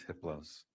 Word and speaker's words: hypolos: a level four entity his name is hypolos the H is silent the other three are